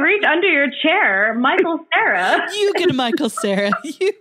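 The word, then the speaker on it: Cera: spelled c r a I believe but it's pronounced Sarah so oh my god I didn't even notice that don't worry okay Michael Sarah you need to accidentally wander into this episode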